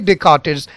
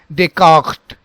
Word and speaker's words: Descartes: So you now understand that it is not Rene Descartes, it is Rene Descartes, Rene Descartes, Rene Descartes, but that GH sound should be very silent.